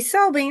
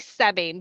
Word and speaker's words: Soebbing: It's actually Sebing, but nobody gets it right, so you're fine.